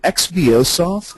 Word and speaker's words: XBOSoft: um well first off is it is it xbos soft is that the appropriate is that the general pronunciation for folks yes that's right okay and